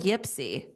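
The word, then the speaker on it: Ypsi: Uh do you call it Ipsy? Yeah. So they call it Yipsy.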